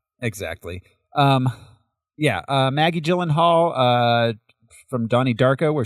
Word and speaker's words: Gyllenhaal: Maggie Maggie Gillen Gyllenhaal gyllenhal soft G Maggie Gyllenhaal um taking over for